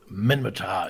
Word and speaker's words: Minmatar: So the third faction is, I believe, pronounced Minmatar? Minmatar in Rust Trust, yes.